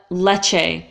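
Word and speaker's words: Lecce: say not to let leche sometimes we say a at the end let him leche or leche leche so basically the only issue because you know it's the CH sound that's not hard it's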